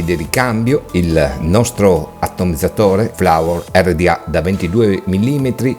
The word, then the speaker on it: FLVR: Si scrive FLVR, ma in realtà si legge Flower.